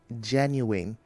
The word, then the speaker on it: genuine: Then you say genuine, not genuine. Genuine, the stress is on genuine.